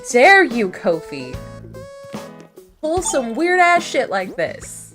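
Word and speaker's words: Ko-fi: or go to the Kofi shop it's really weird that it's pronounced Kofi right is it weird that it's pronounced Kofi is that just me cuz it's not coffee that's the thing it's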